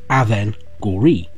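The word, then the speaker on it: Avengorii: we can say it but it is literally aven gori we also found things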